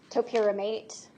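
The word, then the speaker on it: topiramate: Topramate.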